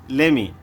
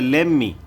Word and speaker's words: lemme: দেখেন স্ক্রিনে আমরা দেখতে পাচ্ছি লেমি, লেমি। অনেকেই দেখবেন এটাকে বলে লেমমি, আসলে লেমমি হচ্ছে ভুল প্রোনাউন্সিয়েশন, এটা হবে লেমি।